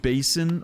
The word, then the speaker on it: Basin: is this the ancient you pronounce that Basin or Bassin the ancient whatever that is Basin Basin okay first way basin so clearly I mean